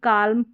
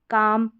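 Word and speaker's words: calm: इन spellings में भी इसको walk, चौल्क, cooled, should, काल्म, पाल्म या बाल्म नहीं पढ़ेंगे। इन सभी में L साइलेंट रखेंगे। वॉक, चौक, कुड, शुड, काम, पाम, बाम, इस तरीके से आपको पढ़ना है।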